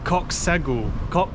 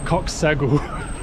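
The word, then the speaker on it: Çox sağ ol: Thank you, Coxsagul. Coxsagul. Saggy cock is how you say thank you.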